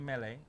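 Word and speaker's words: Melé: look at my name Mele M ele with an accent on the e my telephone number is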